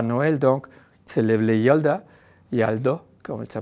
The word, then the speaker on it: Yalda: Il ne célèbre pas Noël, donc il célèbre le Yaldo, comme ça prononce.